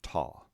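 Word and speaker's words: τά: For single syllable words, it has no practical effect on the pronunciation. So we pronounce the neuter form ta.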